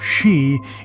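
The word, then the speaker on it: 四: In Japanese culture, the pronunciation of the number 4, shi, eerily mirrors the word for death, shi.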